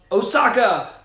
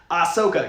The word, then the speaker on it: Ahsoka: back and she was a cool character uh osaka there's a character that looks like asaka i